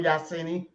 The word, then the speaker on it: Yasini: part right yeah okay the other part of the sin the sin as in the moon said yasini is in the house salima Ellis